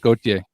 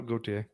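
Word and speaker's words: Gauthier: goes philly's pick here gautier or did i say it right i said it wrong no goatee they say right okay i'm sorry probably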